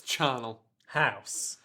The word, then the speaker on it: charnel: space with his ash how do we pronounce it come on charnel damn it it's Channel house the channel house wait but you didn't